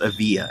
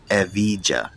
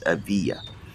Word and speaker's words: Evija: It's pronounced Evija. It's not Evija. No, it's Evija.